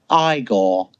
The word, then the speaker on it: Igor: I have a feeling that Young Frankenstein had a lot to do with everyone knowing the hunchback is Igor. No, it's pronounced Igor.